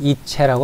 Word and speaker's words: ICE: 독일의 고속열차는 이체라고 합니다.